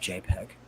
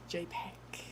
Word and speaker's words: jpg: hello jpg JP G it's pronounced jpeg jpeg hi jpeg how are